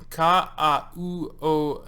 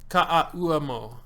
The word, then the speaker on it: Ka'auamo: my name is pronounced like Blaze, but with the S. And the last name is phonetics. Ka'auamo. Ka'auamo.